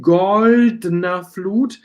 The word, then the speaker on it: goldener: And if you cut this E, goldener, you have to pronounce very good this D and N, goldener Flut, almost like T, goldener Flut, okay.